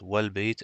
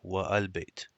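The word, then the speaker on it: وَالْبَيْت: If it is preceded by another word, it is not pronounced. For example, al-bayt is pronounced as al-bayt, and ra'aytu, the houses, and wal-bayt, the house is pronounced as wal-bayt and not wa-al-bayt.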